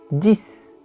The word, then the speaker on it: dix: O número 10 é como o número 6, então se escreve com X no final e esse X é pronunciado como um S. Dix, dix. Mas, quando a palavra seguinte começa com uma consoante, esse X para de ser pronunciado.